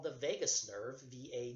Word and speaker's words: vagus: can send signals along a nerve called the vagus nerve VA G us it's one of those